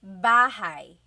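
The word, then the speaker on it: bahay: You might notice that the spelling is a y at the end. So it looks like bahi, but it's pronounced bahigh. That ay combination is bahigh.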